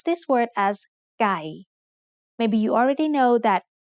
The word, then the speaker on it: ไก่: This is a middle class consonant, so according to the rule we just learned, ไม้เอก gives it a low tone. So we pronounce this word as ไก่ Maybe you already know that ไก่ means chicken.